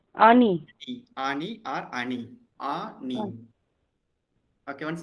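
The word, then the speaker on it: אני: All of is silent. So we say only A. Then Nun. Ani. Ani. Ani or Ani.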